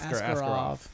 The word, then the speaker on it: Askarov: How do you pronounce that? Askarov.